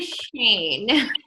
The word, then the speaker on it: Schoen: say your name wrong it's Shane right cuz I say it Shane here I'm here Yeah right Shane okay I thought you disappeared